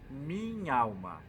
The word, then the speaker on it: minh'alma: palavra composta minha alma então cuidado para gente não pronunciar o ar no final do minha porque ele tem uma apóstrofe naquele restinho em cima então a gente é pronuncia tudo junto minh'alma e depois também no